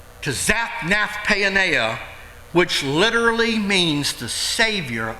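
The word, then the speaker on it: Zaphnath-paaneah: from my pastor he taught me how to pronounce that he changed his name to zapnath payoneer which literally means the savior of the world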